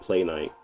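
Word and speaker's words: Playnite: So, it's called Play Night. Um, you can check that out. It's It's spelled P L A Y N I T E, and it's just a it's just a library manager.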